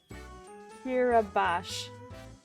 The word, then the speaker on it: Kirubash: This one, Evan wrote the note Kirubash is pronounced Ki-ru-bash. Not Batty, smiley face.